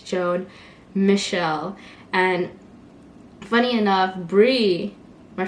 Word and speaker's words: Joan Michel: every other day and it's not joan mitchell it's joan michelle and every time someone